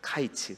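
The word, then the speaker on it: קַיִץ: 이제 언어 플레이 거든요 히브리어로 여름은 카이츠 라는 단어입니다 카이츠 근데 이 카이츠 하고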